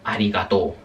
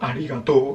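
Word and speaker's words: ありがとう: me sale ahora, es arigató. ¿Vale? El famoso arigató. Gracias. En japonés ari u. Escrito en japonés escribe arigato u, pero no se pronuncia aigatou, se pronuncia aigatou. Se alarga la o.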